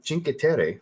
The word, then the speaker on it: Cinque Terre: didn't want to pay retail for the new Cinque Terre. I said it right. Cinque Terre from Mancera.